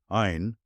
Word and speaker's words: Ayn: Ain rhymes with mine.